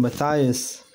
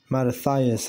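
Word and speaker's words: Mattathias: and when many of Israel came unto them Matthias also and his sons came together matathias I said it wrong then answered the king's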